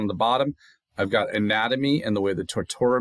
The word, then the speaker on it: anatomy: So, the NAT is stressed.